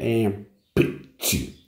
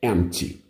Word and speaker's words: empty: Detalhe de pronúncia, esse P aqui, que ele é meio mudinho, né? Então, não é empty, é empty, né?